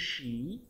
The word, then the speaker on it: she: Kemudian kalau untuk dia perempuan, who is she? Nah, bacanya she ya, karena ada S dan H. Kayak kalian mengusir kucing atau ayam tuh di teras, syah, syah. Jadinya she.